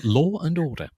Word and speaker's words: Law and Order: a little bit on my favorite American mispronunciation, Law and Order. My father used to absolutely go nuts about that. He said there's no N in the middle of Laura. Who's Laura? So Law and Order.